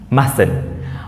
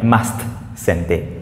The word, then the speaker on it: mustn't: មួយបាត់ T កន្លែងនេះមួយណា ST mustn't កុំហៅកន្លែងហ្នឹងគឺដោយសារតែនៅក្នុង pronunciation ពេលយើងអានមិននៅក្នុង pronunciation ទេពាក្យហ្នឹង pronunciation ការបញ្ចេញសំឡេងរបស់ពាក្យហ្នឹង mustn't គឺ T ហ្នឹងអត់មានសំឡេងទេ mustn'tMustn't មិនមែន must send it mustn't អញ្ចឹងទៅបានជាផ្សេងទៅតាមការអានខុសអូខេអញ្ចឹងសំកាយកន្លែងនឹងមួយគឺមាន t មួយក្រៅពីហ្នឹងគឺមានទាំងអស់អូខេមាន